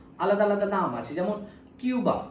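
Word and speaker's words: Cuba: যেমন কিউবা, আমরা কিউবা বলি, কিন্তু আদতে যেহেতু কিউবা স্প্যানিশ, কিউবা কিন্তু ওরা কুবা বলে, কারণ স্প্যানিশ ভাষায় কিউবাকে কুবা।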